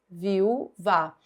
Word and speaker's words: viúva: Quando eu separo assim, viu vá, o U é tônico, é forte, é a sílaba mais forte.